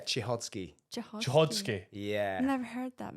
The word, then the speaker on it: Cichocki: Chichodsky.